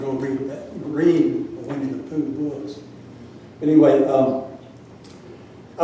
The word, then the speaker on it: P'u: and the u the notion of Pooh is pronounced Pooh.